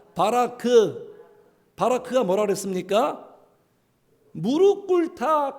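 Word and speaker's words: ברך: 히브리어 발음상 따라해 주세요. 세 글자. 바라크.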